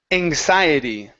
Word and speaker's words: anxiety: like we're pronouncing um it's like a g sound almost okay so it's it only sounds like that because we're the so if we're looking at the X it's a KS right okay but because it's